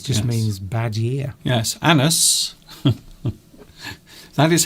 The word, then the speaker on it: annus: Yes, annus. That is how you pronounce it, by the way.